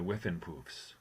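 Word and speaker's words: Whiffenpoofs: were in the noted uh singing group the whiffin poofs correct you pronounced it perfectly yes and then and that's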